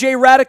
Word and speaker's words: Hradek: him right now Radek is our guest from NHL Network you can find him out on twitter at Radek that's h ra de k the H is silent underscore NHL you can